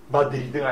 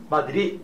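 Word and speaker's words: Madrid: 스페인에는 D자로 끝난 단어는 따로 발음을 못하게 돼 있어요. 받침으로만 쓰게 돼 있어요. 그래서 이거를 마드리드가 아니고 마드리 이렇게 발음해야 돼요.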